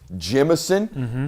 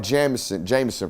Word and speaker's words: Jemison: This is Jemison is how we pronounce that name, not Jameson for you folks out there at home.